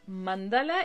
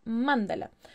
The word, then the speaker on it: mandala: que toda la vida toda la vida había dicho mándala y descubrieron que se decía mandala entonces lo estuve averiguando y si no se equivoca eran los hindús que le dicen mandalas con acento en la y en él el